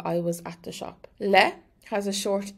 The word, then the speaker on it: le: Le has a short e, le, and it's pronounced like the le in lemon.